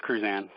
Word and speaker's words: Cruzan: We have a new candidate we want to mention, Cruzan. Am I pronouncing that part right? Yeah, it's Cruzan.